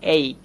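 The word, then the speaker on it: ache: এই যে এই উচ্চারণটা আমরা করে থাকি এইক। এইক মানে হচ্ছে ব্যথা। এইক মানে কি? হ্যাঁ ব্যথা। তো খেয়াল করেন এই যে এ লেটারটা আমরা দেখতে পাচ্ছি, যদিও আমরা ইন্ডিয়ানরা এটাকে এ উচ্চারণ করি, কিন্তু এটা সঠিক উচ্চারণ কিন্তু এই।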